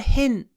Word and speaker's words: hint: thanks for the hint when you pronounce this word hint make sure that you open your mouth don't say hint hint your H won't sound good if you don't open your mouth it doesn't work you have to open